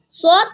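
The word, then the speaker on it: ص: This is sword. Kindly read after me. Sword. Sword comes from tip of the tongue, touches the front lower teeth to pronounce sword.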